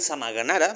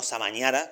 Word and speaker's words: Samagnanara: Em, gracias por decir Samagnanara, bien pronunciado y no samañara como algunos lo pronuncian.